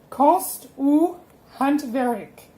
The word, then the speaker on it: konst och hantverk: It's a lot of words, and these words are pronounced konst och hantverk. So, konst och hantverk.